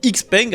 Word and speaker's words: XPeng: Tiens, vu qu'on parle de moteur thermique, on va aussi parler de Cheng que vous pouvez aussi prononcer Xpeng à la française, marque chinoise qui arrive petit à petit en Europe et qui vient de changer son fusil d'épaule.